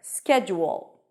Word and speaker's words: schedule: SK SK then we have a j sound it's not a do sound it's a j sound ju ju with a tense o ju and then at the end we have awah a reduced vowel uh and a dark l so basically it sounds like a dark l o o o that's a dark L schu when you connect the J and the o you get like a small W sound there schedule schedule all right